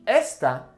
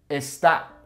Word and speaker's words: está: Once again, it's not going to be esta, it'll be está.